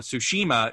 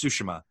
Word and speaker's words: Tsushima: other thing is that the game teaches you how to pronounce the the island's name uh you know so it's not uh tsushima it's sushima um intense yeah that